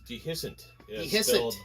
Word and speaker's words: Dehiscent: name you're rocking real bad the the proper pronunciation is dehiscent d-e-h-i-s-c-e-n-t and your music is kind of more